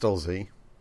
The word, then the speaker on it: Stolzi: Stolzo? How's it pronounced? His name is pronounced Stolzi.